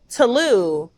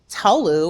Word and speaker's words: Tolú: But the Yoruba alphabet has the accents because our language is so tonal. Yeah. So for me, it was important to have the accent on the U because I'm like, my name isn't just Tolú or it's Tolú.